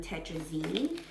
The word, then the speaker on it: tetrazzini: This is chicken and mushroom tetrazzini, that's how you say it.